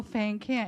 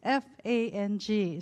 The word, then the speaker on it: Fang: Fang and I've never been called a fan care it's f-a-n-g so it's a Fang and my middle name